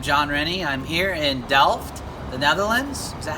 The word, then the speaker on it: Delft: I'm here in Delft, the Netherlands. Is that how you say it? Yeah. Delft, Holland?